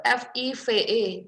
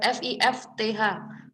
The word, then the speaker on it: fifth: Nah, 5 itu kan biasanya 5 itu F-I-V-E. Tapi ketika ada ordinal numbers, kalian menuliskannya dengan F-I-F-T-H. Fifth. Bacanya di belakang kayak ada remnya gitu ya. Fifth. Bukan five, tapi fifth.